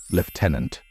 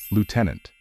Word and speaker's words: lieutenant: want to sound more British you can say liutenant pay attention that there is no letter F in the word however British people tend to say it on the other hand Americans prefer to pronounce it as Lieutenant it's as if there was double O in this word be careful well Sergeant